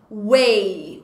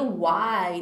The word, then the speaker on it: WEI: É Way, Way or Die. Eu achava que você pronunciaria Why, né? Why or Die, ficaria muito mais bonito. Mas não, é Way mesmo.